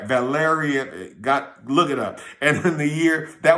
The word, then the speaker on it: Valerian: The ninth was under Valerius. Let me say it right. Valerian, look it up.